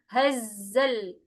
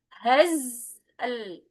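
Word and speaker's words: الهزل: Hazzal tanpa memantulkan. Bukan hazzal. Zal tapi hazal wama hua bil hazl innahum yakiduna kaida.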